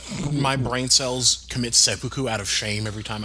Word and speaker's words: seppuku: because I feel like my brain cells commit seppuku out of shame every time I visit his Twitter. Isn't it just seppuku? Isn't that just seppuku? Not seppuku? I don't speak Japanese, so I don't know. It's seppuku.